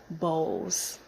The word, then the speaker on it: Bowles: I wanted you to really know how to say it um so sue bows so I'm so excited